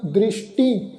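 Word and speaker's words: ਦ੍ਰਿਸਟਿ: ये जिहड़ा शब्द है जी दृष्टि, सस्से दे पैर विच बिंदी लगा के पाठ उच्चारण करांगे दृष्टि। टैके नूं बिहारी नाल बिंदी का पाठ उच्चारण होएगा दृष्टि।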